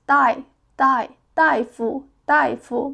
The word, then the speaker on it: 大夫: We will pronounce this character as 大夫 means doctor. 1 2 3 so it's also just 3 strokes.